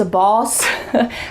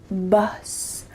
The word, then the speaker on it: bus: Sometimes this short U sound can be a little bit tricky, so I want to make sure you're not saying bus, bus, boss. Make sure you say bus, bus, bus.